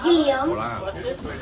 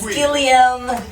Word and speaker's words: Guillaume: I've known Guillaume for over a year, and I kept calling him Guillaume. And one day, Guillaume says to me, Angela, you've been saying my name wrong for a long time, and I never had the heart to tell you that it was wrong.